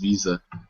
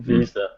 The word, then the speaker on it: Wiese: if any of you want pronunciation advice, it's Wiese. Ah, Tim Wiese. Tim Visa. Yep. like the credit card. Perfect. Yeah. I've said Wise for 10 years now.